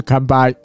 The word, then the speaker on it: 乾杯: 汉字不一样，汉字不一样，发音一模一样，对，都是堪掰，对，但